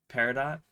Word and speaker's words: peridot: But yeah, it's pronounced Peridot. I'm gonna pronounce it Peridot because of the character from Steven Universe.